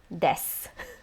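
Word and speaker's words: です: say surname first name desu so again you'll notice it is spelled de su but you drop the oo in the des su it's just desu so your surname or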